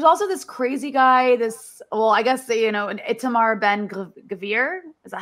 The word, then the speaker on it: Itamar Ben Gvir: There's also this crazy guy, an Itamar Ben Gvir, is that how you say his name?